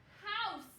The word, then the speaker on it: house: So the word is, the E is silent. House.